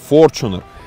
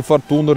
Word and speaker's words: Fortuner: Компания Toyota рекомендательно просила нас, чтобы мы делали ударение на первый слог, именно Fortuner. Поэтому не надо говорить ни Fortuner, ни Fortuner, это Toyota Fortuner.